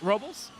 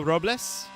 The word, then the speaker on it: Robles: I would say it's pronounced Robles, but it's also Robles. Those are both acceptable pronunciations.